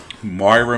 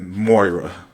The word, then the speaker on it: Moira: Because, like, a lot of people say it differently, though. Like, when Benny did the video for this, and in Green Arrow, they pronounced it Moira. But in other shows, I've seen them pronounce it Myra or Maria or some other version of the word. So it's like, how is it really pronounced? O before I. Moira.